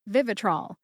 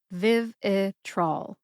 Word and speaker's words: Vivitrol: word decimal I and the third syllable is trol which rhymes with fall as in October right now is the season of fall put that all together and you get Vivitrol emphasize the first syllable